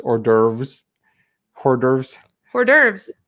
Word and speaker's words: hors d'oeuvres: this is the nation that decided that it's pronounced hors d'oeuvres hors d'oeuvres hors d'oeuvres horsed orbs where's yours as lizzie would take hors d'oeuvres